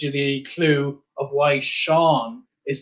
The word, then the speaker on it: Sean: This kind of gives you the clue of why Sean is pronounced like that, because SE tells you it has to be pronounced like a sh.